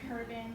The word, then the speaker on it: Herban: The H is silent. Urban. It's debated. Some people say Herban, like herb, or herb.